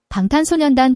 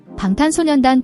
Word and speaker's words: 방탄소년단: The B in bang is a soft B sound. The S in So-nyeon is a clear S sound, like in song.